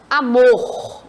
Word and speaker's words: amor: aqui separadinho para vocês amor observa em que quando eu pronuncio amor amor qual é a sílaba forte Mor não é isso então a letra